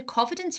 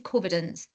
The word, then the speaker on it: Covidence: a platform called I never know how to pronounce this either cidence or covidence oh yeah I know that one I'm gonna call it covidence because it spelt like Co ends um blew my mind